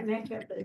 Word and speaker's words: MAC-EPID: MAC-EPID? Yeah, MAC-EPID.